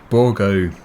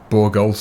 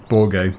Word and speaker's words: Bourgault: DLC properly, and the new DLC is the Bourgault DLC. Apparently that is the correct pronunciation for it, because before I was calling it Bourgault or something as it is spelt, but yeah, Bourgault seems to be more appropriate.